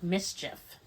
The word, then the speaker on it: MSCHF: it's a bag and it's from the company mischief and they tell them how it's spelled uh that's a good question mschf and